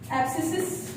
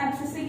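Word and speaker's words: abscisic: Fifth hormone is एबीए, एब्सिसिक, एब्सिसिस भी लिखा मतलब प्रोनाउंस होता है कई जगह पे, बट इट इज एब्सिसिक acid. आपा इनु एब्सिसिक एसिड प्रोनाउंस करते हैं।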